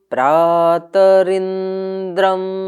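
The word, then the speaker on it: प्रातरिन्द्रम्: तो इसका बोलने का तरीका ये है, त को थोड़ा ऊंचे कंठ से बोला जाएगा, प्रा को नीचे कंठ से बोला जाएगा।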